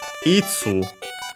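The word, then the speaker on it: いつ: Itsu uh which is uh the um interrogative pronoun for when uh accent on the first moral.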